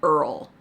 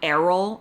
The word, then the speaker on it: Errol: And in that video, I said Earl, not Errol. I said Earl a bunch of times and people were inflamed by this. They were so mad that I was mispronouncing his name.